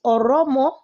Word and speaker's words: Oromo: yeah, our people could not pronounce Oromo, so they now call them Oromio.